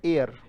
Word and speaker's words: heir: तो लाभ को प्राप्त करने वाला, इसको हम पढ़ते हैं एयर। उच्चारण क्या है इसका? अब ये कहीं से भी एयर लग नहीं रहा है, पर इसका उच्चारण एयर ही होता है।